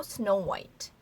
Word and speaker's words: Snow White: 그래서 WH이지만 H 발음은 묵음 처리가 되는 그래서 여기에서도 Snow White, Snow White라고 합니다.